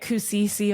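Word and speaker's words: Kusiciel: of extra letters so people would pronounce it incorrectly k u s i c i e l so I would get cusil or Kiel or people would just panic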